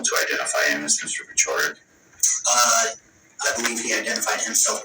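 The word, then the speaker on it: Paciorek: And just real quick, I just want to make sure we're pronouncing it correct. Is it Pachorik? Yes.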